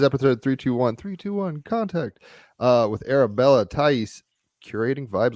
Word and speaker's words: Thaïs: It's Thaïs, right? Yeah, correct. All right, cool. We'll geek out on that in a second. So yeah, it is episode 321 contact with Arabella Thaïs, Curating Vibes.